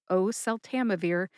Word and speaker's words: oseltamivir: I notice that I hold on to that first syllable, o, at the start of oseltamivir, kind of like I do with valacyclovir.